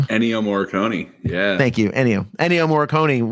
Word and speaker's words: Ennio Morricone: I can't pronounce the guy's name. Ennio Morricone.